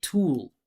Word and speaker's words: tool: He said tool instead of tool. Ooh. You hear that extra sound I'm adding? That's the dark L.